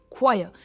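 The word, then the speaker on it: choir: क्वाय पे इसका स्ट्रेस है क्वायर।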